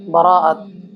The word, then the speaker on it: বরাত: সব শব্দের অর্থ হচ্ছে রাত, আর বরাত, বরাতের মূল সঠিক উচ্চারণ হচ্ছে বারাআত, যার অর্থ হচ্ছে মুক্তি।